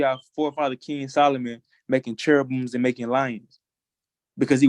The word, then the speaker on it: cherubim: So is King Solomon off for making the cherubim?